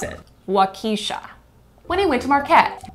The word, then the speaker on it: Waukesha: when he can't pronounce waukesha how do you pronounce it wakisha when he went to marquette high school or